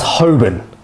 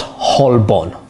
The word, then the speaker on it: Holborn: but in fact it's pronounced totteridge and whetstone pronounced as hoben not holborn some would call this bermondze when actually it's